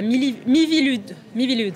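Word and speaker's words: Miviludes: Vous êtes le président de la Mivilude, c'est comme ça qu'on prononce, la mission interministérielle de vigilance et de lutte contre les dérives sectaires.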